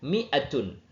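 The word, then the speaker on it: مائة: Miah bisa biasanya ditulis dengan mimnya pendek atau mi dikasih alif sama tapi membacanya tetap pendek. Miatun.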